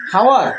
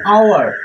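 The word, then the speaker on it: hour: বসবে কি এন দেখেন এইচ ও ইউ আর এটা কি হাওয়ার অবশ্যই না এটা হচ্ছে আওয়ার এটার উচ্চারণটা কি আওয়ার এইটা এখানে উজ থাকতেছে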